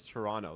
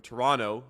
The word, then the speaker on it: Toronto: Toronto, whereas someone from Toronto would not. Yeah. And he does not pronounce it, so it's a little interesting. T is silent, just like in Jason. The T is silent.